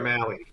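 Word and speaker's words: Mahle: better one is Tyler Molly how do we pronounce this guy last season that we butchered Tyler Maui Maui Maui okay take him squirrel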